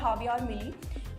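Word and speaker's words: Javier Milei: Argentina की recently अभी नए प्रेसिडेंट इलेक्ट हुए हैं जिनका नाम है हावियर मिली। ठीक है, उनका जे से नाम स्टार्ट होता है बट प्रोनाउंस ऐसे होता है हावियर मिली।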